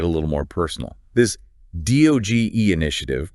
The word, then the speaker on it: DOGE: This DOGE initiative, pronounced DOE like rogue, isn't just about economic theories, it's about real people, real communities.